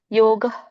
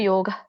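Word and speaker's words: ಯೋಗಃ: ಸ ಕೆ ಮತಿದೆ ತಸ್ಮಾತ್ ಯೋಗಯ ಯುಜ್ಸ್ವ ಜಕ್ಕೆ ಯವತ್ತು ಸ ಕೆ ವತ್ತು ಯೋಗ ಇಲ್ಲಿ ವಿಸರ್ಗ ಇದೆ ಗ ಆದಮೇಲೆ ಹಾಗಾಗಿ ಅದನ್ನ ನೀವು ಮಧ್ಯದಲ್ಲಿ ಇರೋದ್ರಿಂದ ಸ್ವಲ್ಪ ಉಚ್ಚಾರ ಮಾಡಬೇಕು ಯೋಗ ಯೋಗ ಪರ್ಮಸು ಕೌಶಲಂ ಮ ಮತ್ತೆ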